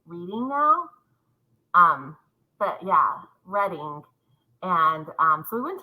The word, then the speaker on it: Reading: that yeah close to London it's actually it's pronounced reading instead of reading but I was a librarian for so long but I just say reading now um but yeah reading and um so we went to London all